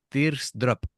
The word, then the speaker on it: T-AR'S DROP: Se pronuncia Tears Drop y la canción BNS.